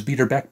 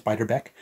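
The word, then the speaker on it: Beiderbecke: tribute album to bixbyderbeck I think that's how you pronounce it I thought it was beater back but I think it's biter Beck uh but yes Jeff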